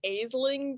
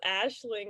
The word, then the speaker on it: Aisling: on that because i thought it was like aseling b and then yeah somebody pronounce it as ashling and i'm like wait and this always happens